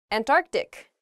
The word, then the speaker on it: Antarctic: saying this word quickly you might leave out that first c in the antarctic so don't say that don't do that say